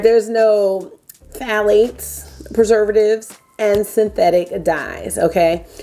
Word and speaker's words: phthalates: Phthalates. Phthalates. Yes, it's an F sound, then a the sound.